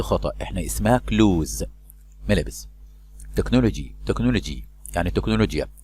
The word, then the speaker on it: technology: تكنولوجي يعني تكنولوجيا. CH هنا تنطق كاف.